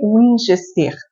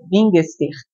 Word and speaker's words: Wingester: Meu nome meu sobrenome é Wingester, mas em alemão é Bingester. Então, mas fica em português o Inester, que é mais fácil.